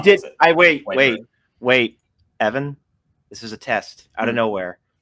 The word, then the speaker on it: Wiper: It was Whipper. Yeah. So you could just pronounce it as Wiper.